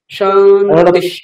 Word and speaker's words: শান্তি: শান্তি, ওই টি ইকারটাকে আমরা বেশিক্ষণ টানবো না।